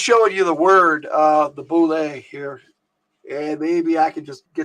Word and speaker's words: boule: It's the way a lot of people pronounce it bullet, but it's a French word clearly, and it is pronounced, as far as I know, it is pronounced. If I can get the right one over here, let me see. Boule, there it is. Boule. Okay, people call it bullet, but if it was